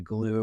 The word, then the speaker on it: Gloo: not get in that doorway so glue and glue is spelled gl-o-o for those who don't know a